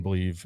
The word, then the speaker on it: Bleav: It's Believe in Cincy, BLEAV in Cincy.